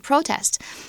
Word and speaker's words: protest: kind like a protest it's used as a noun over here so we put the accent on the first syllable protest against local residents have